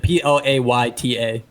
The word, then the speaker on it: Plata: It's Pita, right? Like pita bread? Plata. Like I think plate. PL Plata. If you're like gonna pronounce it, PLAYTA.